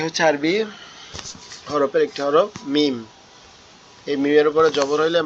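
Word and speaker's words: ميم: আরবি হরফের একটি হরফ মিম। এই মিমের উপরে জবর হইলে মা, মিমের উপরে জের হইলে মি। মিমটা কিভাবে উচ্চারণ হবে? মিমটা হচ্ছে আমাদের দুই ঠোঁটের শুকনো জায়গায় একসাথে লেগে থাকবে, লেগে উচ্চারিত হবে।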